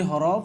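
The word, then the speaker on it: ح: সেটাকে আমরা গলা থেকে একবারে বলবো হা।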